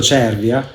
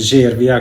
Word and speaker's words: Cervia: durante i miei video ho detto Cervia. Per me Cervia è veramente difficile da pronunciare, però è uguale, come si dice Bologna, si dice Cervia, quindi va detta nel modo giusto.